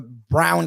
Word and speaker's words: Braun: They have five now with the Brown or Braun or whatever the hell you pronounce the name Braun. He wants to be called Brown for some reason.